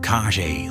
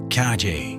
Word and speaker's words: Caje: Pierre Jalbert played PFC Paul Caje Lemay, whose name long-time fans remember is pronounced like Cage. Caje was the French-speaking